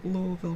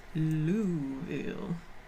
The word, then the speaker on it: Louisville: I'm in Louisville, Kentucky. Louisville. Louisville. I have to say it like that and remind myself that I live in the country now. Because no one says Louisville, they say Louisville.